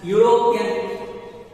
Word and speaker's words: European: Second example is that European, but you have to make sound Europeans.